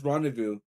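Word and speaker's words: rendezvous: The Z and the final S are silent.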